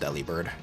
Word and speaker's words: Delibird: Yeah, Delibird. Yeah, Delibird. Yes, the deli in its name does come from deliver, but it's pronounced Delibird.